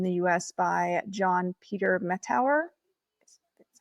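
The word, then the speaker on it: Mettauer: In 1817, the first cleft pallet surgery was performed in the US by John Peter Metauer.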